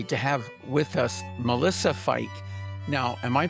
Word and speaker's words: Feick: We're honored today to have with us Melissa Fe. Now, am I pronouncing your name properly?